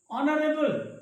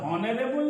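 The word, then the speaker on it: honourable: ऑनरेबल, यहाँ पर हॉनरेबल नहीं होता है, ऑनरेबल होता है, इसलिए यहाँ पर एन का प्रयोग किया जाता है।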